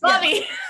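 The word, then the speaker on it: Laube: Lobby. Yes. That's another one I never know how to pronounce. Just think in terms of he will lobby for your book.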